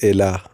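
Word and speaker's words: אלה: So by putting vowels on these three letters, it will pronounce as Elah.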